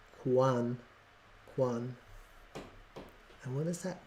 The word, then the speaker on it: QANX: set an alert oh it tells you how to pronounce it Quan Quan and what is